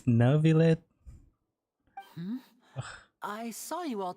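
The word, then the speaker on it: Neuvillette: but wait never let creepy still pronounce the name wrong it's navilet hmm I saw you all chatting just now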